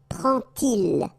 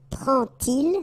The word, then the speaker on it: prend-il: to show you that you won't pronounce it like D to make the liaison, but you will pronounce it like T. And so you will get prend-il, prend-il, okay?